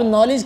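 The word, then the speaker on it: knowledge: general नॉलेज इसके बाद नॉलेज नहीं है अब नॉलेज की स्पेलिंग हैं कि के एन के से शुरू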